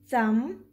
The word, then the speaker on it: thumb: Did you hear the b sound at the end? No, because whenever b is followed by m, we do not pronounce b. Like in calm, bomb, thumb, tomb.